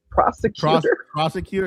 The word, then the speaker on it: prosecutor: Prosecutor, is that how you say it? Prosecutor. It's prosecutor, not persecutor.